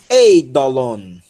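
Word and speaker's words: εἴδωλον: Olha aqui, pessoal, ó, o ditongo, tá? Pronunciam-se as duas vogais, ei. Vejam que, por ser um ditongo, a aspiração vai para a segunda vogal e o acento também, ó, está aqui, essa é a sílaba tônica, tá? Então, ei. Ei. Dó, lon. Eidolon.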